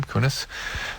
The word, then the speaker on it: Kunis: It's Laura Prepon and Mila Kunis. How does she pronounce her name? Kunis.